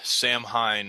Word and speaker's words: Samhain: As most of you guys know, we are approaching Samhain, or as most of us know it as Halloween.